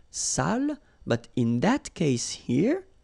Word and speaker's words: sale: So if you don't put the accent, it means dirty, and then you pronounce it sale.